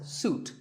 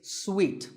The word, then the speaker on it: suite: in a hotel and this is wrongly pronounced by many people as suit but it's sweet like when you eat a piece of candy sweet and while we're